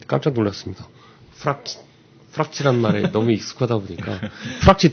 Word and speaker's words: 프락치: 이 프락치라는 말이 이제 영어에서는 이제 프락션 또는 프락터라는 말이 있습니다. 네. 그거에 이제 러시아식 발음이 이제 프락치 또는 프락티아라고 하는데, 그게 이제 많은 변형돼서 부르는 말 같습니다.